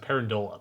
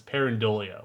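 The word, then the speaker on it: pareidolia: parolia as I've been I keep mispronouncing parola but it's parolia which is you know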